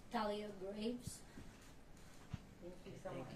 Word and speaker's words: Thalia Graves: Do you wanna pronounce her name? Thalia Graves.